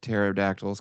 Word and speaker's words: pterodactyls: carry an umbrella because their p is silent well you're going to